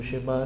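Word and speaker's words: שְׁמַע: Entonces, en el texto del Shema, si se fijan cómo yo pronuncio Shema, se van a dar cuenta de lo que me estoy refiriendo. Y es que Shema empieza con Sheva.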